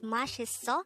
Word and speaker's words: 맛있어: saying delicious again our word for today is mashiso which is an informal way of saying there